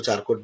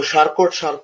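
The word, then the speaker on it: Charcot: तो मैंने ये चारकोट है, हम तो चारकोट बोलते थे क्योंकि हम मराठी मीडियम से पढ़े हैं। फिर बाद में वो शार्कोट ही वाज डूइंग शार्कोट।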